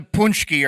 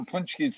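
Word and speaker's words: pączki: There's no N sound there. The C it actually has a crescevante underneath it, which is a different type of sound than the letter C.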